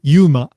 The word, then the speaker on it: UMA: It's pronounced yuma.